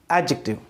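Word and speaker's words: adjective: बता चुका हूं कि इसका प्रोनाउंसिएशन जो है एडजेक्टिव करना है, एडजेक्टिव नहीं करना। आपको ये ध्यान रखना है, मोटे तौर पर आप ये ध्यान रख लीजिए कि जहां पर भी डी और जे का कॉम्बिनेशन होता है वहां डे को प्रोनाउंस नहीं किया जाता, वहां क्या प्रोनाउंस किया जाता है, वहां जे प्रोनाउंस किया जाता है। इसलिए हम इसे कहते हैं एडजेक्टिव।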